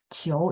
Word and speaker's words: 球: Qiu dan IU, kalau teman-teman catat gitu ya, setiap kali saya ngomong IU itu berarti IO. Memang tulisannya nggak IOU ya. Tidak ada Hanyu Pinyin tulisannya IOU. Adanya IU. Tapi biar bacanya bagus, ya itulah ya, saya kasih mungkin kita boleh bilang tipsnya gitu ya. IOU ya, jadi ada O ya.